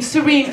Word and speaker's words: Serine: Sarah I have a beautiful Arabic name serene can y'all pronounce serene you see not common